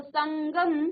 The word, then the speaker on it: संगम: ऐसे ही समधन गम, तो संगम, तो यहाँ पर अंग का उच्चारण, किसका, अंग का उच्चारण आ रहा है, अंग का। ठीक है, तो संगम।